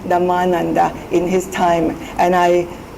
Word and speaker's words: Dhammananda: His name is Dhammananda. My name is Dhammananda. The emphasis on the vowel is at a different place.